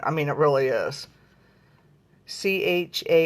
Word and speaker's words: Charoite: It's spelled C-H-A-R-I-T-E. It's just a beautiful stone. I mean, it really is. Charoite.